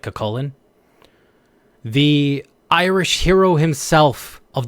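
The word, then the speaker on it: Cú Chulainn: cakan or I mean they call him culain but his name is supposed to be pronounced like cakan the Irish hero himself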